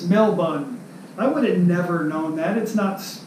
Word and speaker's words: Melbourne: argue with somebody from Australia I kept saying Melbourne Melbourne oh you're from Melbourne Australia well you know that's not you say it's Mel bun I would've never known that it's not it's